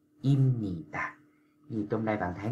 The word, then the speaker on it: 입니다: n nè, cho nên chữ bờ nó đã biến thành chữ gì các bạn, chữ m, cho nên bạn phải đọc là imnita.